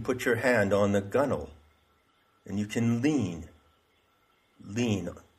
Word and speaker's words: gunwale: and that's called the gunnel g-u-n-w-a-l-e it's pronounced gunnel so it's actually a